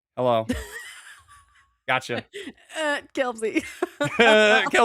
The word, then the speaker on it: Kelpsey: We're going to learn more about Kelsey or Kelpsy. Interchangeable. Interchangeable. We're gonna learn is silent. The P is silent.